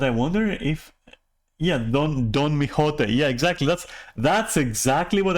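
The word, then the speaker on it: Miqo'te: Mijote? What kind of accent was that? Mijote? Mijote. What? Is that how you pronounce that?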